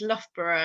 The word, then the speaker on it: Loughborough: if you've not seen it before but it's loughborough and that's that's how we pronounce it but um i will never be